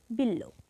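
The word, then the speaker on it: বিল্ব: দ্বিতীয় উচ্চারণ হবে অশ্ব এরপর আছে বিল্ল বিল্ল এ শব্দের শেষ বর্ণ হচ্ছে ল ল এর সঙ্গে ব ফলা আছে তাই ল এর দ্বিতীয় উচ্চারণ হবে তাহলে এর উচ্চারণ হবে বিল্ল এরপর আছে গ সন্ধিজাত শব্দে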